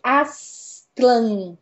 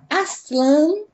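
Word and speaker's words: Aztlán: vamos voltar pros Aztecas Aslan é o lugar mítico da origem dos povos Aztecas em sua língua original que é o nahuat é difícil pronunciar isso porque é um TL mudo né a raiz de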